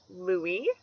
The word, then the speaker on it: Louis: which means famous battle this can also be pronounced Lewis however somebody who loves luis might prefer the Louie pronunciations is more similar this name is all